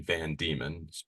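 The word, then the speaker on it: Van Deman: of a guy called General Ralph Van Diemen, or Van Diemen, depending upon how you want to pronounce it. And yes, I've been told by Richard B. Spence it's actually Van Diemen.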